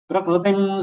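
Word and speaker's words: प्रकृतिं: So without taking your lips ahead, if you pronounce it Prakru, then it will be a correct pronunciation. Prakritim swamadhisthaya.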